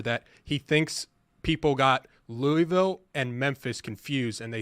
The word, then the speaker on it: Louisville: I can't figure out the disrespect the committee gave to Louisville because in the final AP poll... I think you're pronouncing it wrong. I think it's Louisville. You kind of just have to...